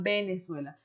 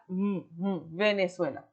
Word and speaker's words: Venezuela: Porque muitas vezes, quando a gente quer caprichar numa pronúncia, a gente fala Venezuela. Pode acontecer. Mas a regra geral, a maioria das pessoas falam com o som da B, e isso já foi